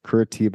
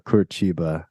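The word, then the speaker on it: Curitiba: kurachiba or it's or it's about people people pronounce either kuratiba or kurachiba I've heard it both ways okay there's a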